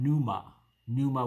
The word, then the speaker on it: pneuma: So, Vespasian is the father, Titus is the son, and Domitian is the Holy Spirit, or Agion Pneuma with a silent P.